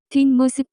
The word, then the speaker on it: 뒷모습: The pronunciation of this word is closer to. 뒷모습, examples.